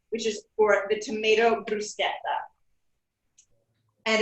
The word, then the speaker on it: bruschetta: straight right here right now first off it's pronounced bruschetta not bruschetta next the tomatoes tomato bruschetta is the best